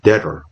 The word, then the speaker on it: debtor: 여기서 B는 빨간색으로 표시해놨죠. 묵음이라고 합니다. 발음하지 않습니다. 그래서 debt가 아니라 debt, debtor가 아니라 debtor 이렇게 발음하셔도 되고요. 그러셔도 보시면 우리에게, 뭐뭐에게가 되겠죠.